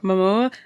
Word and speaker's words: Momoa: Momoa.